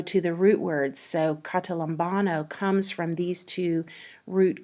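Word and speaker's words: καταλαμβάνω: Strong's G 2638, Catalambano, Catalambano.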